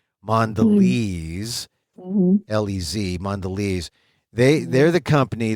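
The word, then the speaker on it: Mondelēz: the you know the the mark over the E so you know it's a long e mandes lez mandes they they're the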